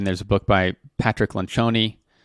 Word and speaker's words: Lencioni: Then there's a book by Patrick Lencioni. Yes, that is how you pronounce it. It's Italian.